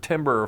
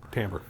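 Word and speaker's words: timbre: So sometimes it might take on a different timber feel. Tambber. Tambber. I always say timber. It's spelled timber, but it's pronounced tambber.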